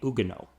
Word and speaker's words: Huguenots: sizable Protestant minority called the Ugo yeah the French don't pronounce like half their letters some of the Ugo wanted to create a